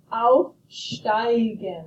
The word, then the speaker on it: aufsteigen: When I and E go walking, the second one does the talking. Aufsteigen, I hear the I sound. Aufgestiegen, I hear the E sound.